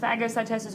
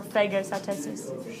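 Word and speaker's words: phagocytosis: Or it can either be pronounced fagocytosis or fagocytosis.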